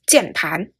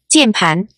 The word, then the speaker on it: 键盘: It's 键盘. 键盘.